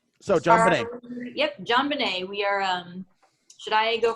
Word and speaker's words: JonBenét: So, the T's there, so I pronounce it. Yeah, definitely. You know, knife, knite, pterodactyl. Pterodactyl. So JonBenet. Yep, JonBenet.